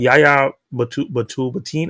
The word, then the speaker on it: Yahya Abdul-Mateen: I don't know if you saw the interview, but Yahya Abdul-Mateen is how you say his name. I always mess it up. Yahya Abdul-Mateen the second.